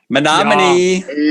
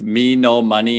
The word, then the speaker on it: Menominee: But someone told me later, they're like, you could just say men o money. Like men of money with lots of money.